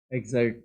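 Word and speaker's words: excerpt: इसको एग्जर्ट पढ़ना है, पी भी साइलेंट है, सी भी साइलेंट है।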